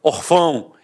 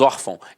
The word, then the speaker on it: órfão: Até porque se fosse um acento gráfico, eu não falaria órfão, eu falaria orfão. E não é o caso. Nós falamos órfão.